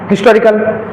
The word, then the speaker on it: historical: जैसे आप इसको हिस्टोरिकल तो पढ़ते नहीं हो, हिस ही पे इतना टाइम नहीं लेना है, इसका सही प्रोनाउंसिएशन क्या है, हिस्टोरिकल।